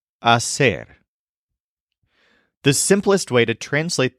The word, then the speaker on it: hacer: start learning the verb Asser which means to make or to do this is spelled h a c e r and the H at the beginning is silent AER the simplest way to